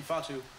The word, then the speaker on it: Ifeatu: Ifeatu, is that how you say it?